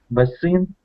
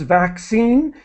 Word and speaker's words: vaccine: And just to let you know, this is one of these words, vaccine, where the first C is pronounced like a K, vac, and the second C is pronounced like an S, scene.